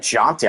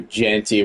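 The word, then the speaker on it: Ashton Jeanty: He said Jaunty. I thought it was Genty. He said Jaunty. Ashton Jaunty. I think it's pronounced Ashton Genty. But, man, from the 42, Genty with a run.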